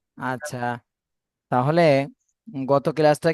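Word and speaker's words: ت: জিহ্বার আগা উপরের দাঁতের সাথে লেগে। হ্যাঁ, উপরে দুই দাঁতের আগার সাথে লাগবে, ঠিক আছে?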